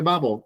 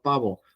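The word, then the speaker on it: 바보: Por ejemplo, este, la palabra en los dramas que se escucha mucho babo, a veces lo tienden a pronunciar babo, babo. Pero, ¿por qué babo y no pavo?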